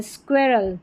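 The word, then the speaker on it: squirrel: तो इन सभी में स्टार्टिंग में है, जैसे स्क्वेयर, यह है स्क्वीज़ और यह है स्क्वेरल, स्क्वेरल।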